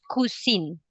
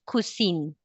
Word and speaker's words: cuisine: But you pronounce kusin. Exactly. Uhhuh. But remember you pronounce kusin because it's a French word.